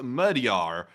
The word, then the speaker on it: Magyar: He said, FYI, Magyar is pronounced Magyar, and the first A has a U sound.